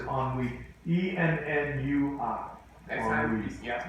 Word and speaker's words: ennui: Oh, the French word is ennui.